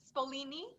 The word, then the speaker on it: Spolini: specify your last name spolina spolini spelling okay just like the ice cream all right yeah